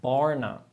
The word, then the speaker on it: barna: Yes, the word how you pronounce barna, this is very good. This combination of the R and N is really, really good.